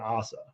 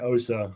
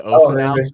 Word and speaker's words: OSSA: video care sales and Assa um sorry I gotta start saying Osa the way it's pronounced right I I actually just changed we just made a global change to say o so you're totally good brother